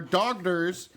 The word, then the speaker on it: daughter: Brazil tells the story of her discovery that her daughter's Daughter. You don't pronounce the G.